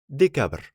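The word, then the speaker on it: декабрь: in pronunciation for example the name of the month december in russian is decabr we can think of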